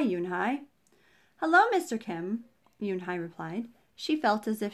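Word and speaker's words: Unhei: nodded slowly yes it's pronounced yoon hai and it means grace mr kim added yoon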